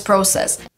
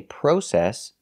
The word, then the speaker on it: process: Studying is an endless process. That's right. In American English, we don't say process. That's British English. In England, they say process.